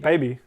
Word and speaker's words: BB: What's BB? Baby. But it's spelled BB.